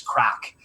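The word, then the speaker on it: craic: there you go but it's pronounced correctly saying crack hot sauce it's not meant to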